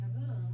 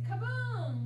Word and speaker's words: kaboom: And when we read like a writer and we see a word like this, the intonation and expression on the second syllable, we don't say kaboom. We say kaboom because we're reading like a writer.